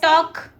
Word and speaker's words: talk: टॉक TALK। हाँ, L silent है।